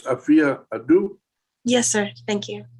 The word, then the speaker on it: Afua: It's like Sophia, but it's Afia. Afia. Okay, I'm sorry. I keep saying A-F-U-A, Afua.